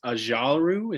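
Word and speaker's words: Ojulari: had zavin collins at 20 we had aziz ajalru is how you say his last name rashad ajilari yeah what what rashad said um 21 the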